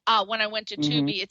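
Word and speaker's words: Tubi: out of control so when you hear like 2B you watch you can watch some great shows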